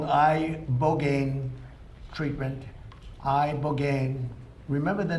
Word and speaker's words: ibogaine: And it's called ibogaine treatment. Ibogaine. Remember the name. Is that pronounced relatively properly, would you say?